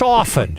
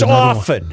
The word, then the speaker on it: often: It's often. There's no t in there that you have to hear. It's often.